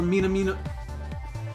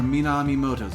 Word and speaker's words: Minamimoto: So the taboo noise were Minamino... That name. I know, right? It's one syllable too long. Yeah. So the taboo noise were Minamimoto's doing.